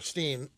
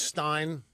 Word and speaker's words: Rosenstein: The thing about Rosenstein or Steen, I'm not sure. I've heard it pronounced both ways. It is Stein.